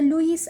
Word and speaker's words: Lewis: going to act as a levi's acid so some people will call it as a lewis acid okay i'm going to pronounce it as a lavish acid anhydrous zinc chloride acts